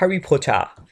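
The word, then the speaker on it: Harry Potter: famous movie में था तो उसको अगर हम प्रोनाउंस करें तो इसको बोलते हैं हरी पोचा हरी पोचा सो अगेन एक दफा रिवाइज करें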